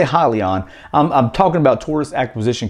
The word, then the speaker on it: Hyliion: stands for hybrid lithium ion and it is pronounced highly on i was actually mispronouncing it for a while